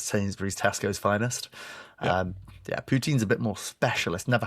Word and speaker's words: poutine: Is that is that pouton? Is that is that what it's called? Is that is a French swear word? Poutine is what you're trying to say. It's like poutine.